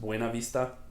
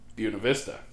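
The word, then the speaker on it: Buena Vista: And yes, I know in Spanish that that would be pronounced Buenav Vista, but in Buuna Vista, all the locals called it Buuna Vista.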